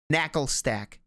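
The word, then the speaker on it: Naclstack: This is I don't even know how to pronounce this broccoli. thing. No, you're not gonna get it. Broccoli. It's Okay. Knackle Stack. NACL stack.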